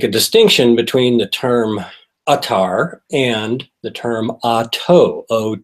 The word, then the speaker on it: attar: term first of all the term UT is an Arabic word it is spelled a t t a and sometimes it is also pronounced or of course it's easier for a lot of people to just say atar now we need to